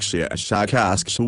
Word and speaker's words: Shashakask: Our language is very different from yours, but my name is, I will try to say it smoother by use of your human letters, something like Shashakask with a very strong pronunciation of the sh and k sounds.